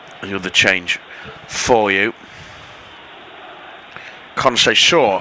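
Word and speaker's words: Conceição: Conc Shaw apparently is the correct pronunciation of Portugal's number 26.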